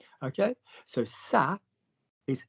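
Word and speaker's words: ça: annoys me sa okay when we have a c in French with the letter a after it it must have a tail it must have a tail Silla s otherwise we'd pronounce it C like c c a r okay so sa is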